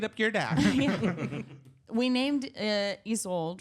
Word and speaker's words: Isolde: She's like, it's Isolde. Isolde.